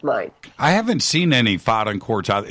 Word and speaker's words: Faden: kind of quartz, and it's called a Faden, Faaden, and it's pronounced like there's an umlaut over the A, so it's Faden.